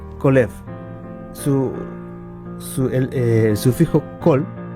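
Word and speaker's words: כָּלֵב: corazón Audaz o valiente en hebreo se pronuncia colef su su el sufijo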